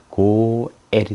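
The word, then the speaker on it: גואל: 그냥 에만 발음, 에 모음만 발음해주면 되겠습니다. 자, 다음에 이것은 나중에 배우고요. 그래서 합쳐서 쭉 읽으면 이것은 고엘이 됩니다.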